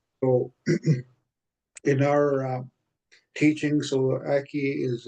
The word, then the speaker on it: aki: So we pronounce it Aki, means the ground, depending how you use it, or earth. So in our teaching, so Aki is like our Mother Earth.